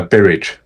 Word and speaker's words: Berridge: And is it is it Barage or Barage or how do you pronounce it? Uh, Barage. It is Barage.